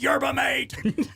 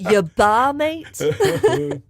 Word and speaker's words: yerba mate: It's yerba mate. I pronounce it yerba mate.